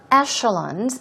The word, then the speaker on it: echelon: upper class the upper echelons of society this might be a new word for you Echelon that's e c h e l o n um but it's pronounced with an sh sh sound we'll practice that later